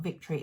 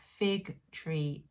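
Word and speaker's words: Fig Tree: week about victory yarns it's not victory it's fig-tree yarns that's my bad my bad pronunciation and I will put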